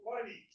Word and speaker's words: Pliny: Is it Pliny or Pliny? So the age-old question. the man is Pliny, but the beer is Pliny. Yeah, it's a long I in American English, but there's only one consonant.